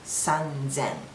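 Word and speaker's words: 三千: so we put a little bit voice it's pronounced sanzen so how about this number 3333 It's sanen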